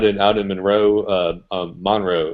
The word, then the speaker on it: Monroe: out in Monroe uh Monroe is how the natives pronounce it uh Monroe North Carolina